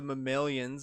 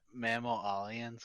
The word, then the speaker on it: mammalian: out next year oh yeah return of the mammalians is the story theme for the single player mode um isn't it mammal aliens because it's mammals it's mammalian that's how they